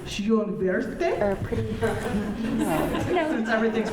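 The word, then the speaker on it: Schönwerth: The last name is V-O-N, not capitalized, but then it's capital S-C-H-O-N-W-E-R-T-H. It's magnificent, really. Oh, Schonwert. Pretty Garden, right? And today we can learn that's pronounced Schönwerte, Or Pretty, no.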